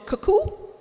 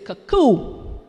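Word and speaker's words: cou-cou: authors this is included cuckoo is not as many barbados call it cuckoo as in cuckoo clock or cuckoo bird the correct pronunciation is cacoo use of other dishes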